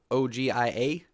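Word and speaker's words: Ogie: Yep, his name is OG, spelled O-G-I-A, or I-E, sorry. But we pronounce it OG.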